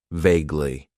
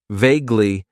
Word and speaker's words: vaguely: and that is vaguely it has two syllables and the stress is on that first syllable vaguely vaguely means that something is